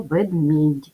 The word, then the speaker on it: ведмідь: який пом'якшує попередній приголосний так як в нашому слові є буква м'який знак яка звуку не позначає то букв буде більше ніж звуків сім звуків буде менше шість в цьому слові два склади запам'ятовуємо що писати потрібно букву е і в кінці м'який знак вимовляємо ведмій